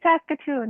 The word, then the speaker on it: Saskatoon: Saskatoon? How do In I pronounce Canada. it? It's Saskatoon, yes.